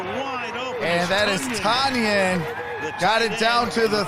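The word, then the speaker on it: Tonyan: And that is Tanyan. Got it down to the 30. 30-yard line. Breakout season for him, whose name is spelled T-O-N, but it's pronounced Tunyon.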